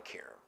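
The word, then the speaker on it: Qerim: the name Molly Kim I think she said Karen it's spelled with a cute Molly Karam Molly and uh they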